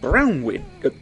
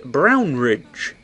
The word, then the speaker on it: Brownridge: Brownwood. Slightly more respectful to say it correctly. Brownridge.